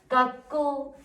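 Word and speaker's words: 学校: 자, 굳이 이렇게 적자면 깎고, 깎고, 앞에 액센트가 가네요.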